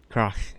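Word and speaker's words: Crach: Right, I'm gonna try and pronounce this guy's name again. Krach. Krach? Krach.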